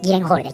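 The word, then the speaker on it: Gyllenhaal: Este filme é estrelado por Maggie Lenhall, que contracenou com Christian Bale em Batman: O Cavaleiro das Trevas. Embora seu nome seja pronunciado Maggie Lenhall em inglês , hoje usarei Gillehall, como é escrito no Japão.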